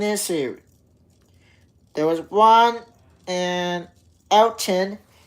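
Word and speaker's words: Elkton: There was one in Elton. Elton, Tennessee.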